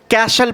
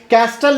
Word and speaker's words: castle: CASTLE, इसे हम कैशल पढ़ेंगे, CASTLE, कैस्टल नहीं बोलेंगे, इसे हम कैशल पढ़ेंगे।